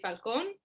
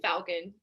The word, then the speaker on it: Falcón: first of all um so depends if you're hispanic people say falcon if you're yep you're american falcon so either or translates oh my gosh